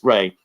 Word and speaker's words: Ra: The word Ra is the name of an ancient god called Ra, pronounced Re.